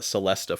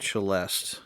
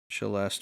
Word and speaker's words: Celesta: people that play this game we'll call it Celesta Forest but that is a musical instrument and it is actually pronounced chelest which is really silly when it's written that way uh south of Baroque is cheste Forest the cheste is like a little tiny